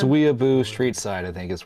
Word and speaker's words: Whenua: that's what he was saying when wua okay wua Street side okay gotcha W how yeah Lex